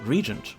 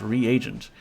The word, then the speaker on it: reagent: is an expensive spell my brother always pronounced reent like Regent I was mildly offended when ultimate pronounced it reagent and a gast when I found out that was in fact correct yes the best kind